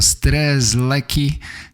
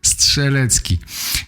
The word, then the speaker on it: Strzelecki: Australijczycy mają trochę problem z tym prostym nazwiskiem Strzelecki. Wymawiają stres, leki, coś w tym rodzaju. Zachęcam, zachęcam do słuchania podcastu po polsku. Nauczycie się wymawiać doskonale to nazwisko. Strzelecki.